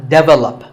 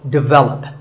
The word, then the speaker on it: develop: number 42 is develop this is pronounced wrongly by many learners of english as develop but the first syllable is actually d and the stress is on the second syllable so develop our next word is photography